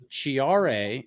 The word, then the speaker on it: Ciare: new face, Geoff Schneider from B&C Group, which Ciare is part of. Yep. Is that the right pronunciation?